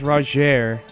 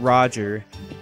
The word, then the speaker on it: Roger: thing you know yes it's pronounced rer not Roger is although just to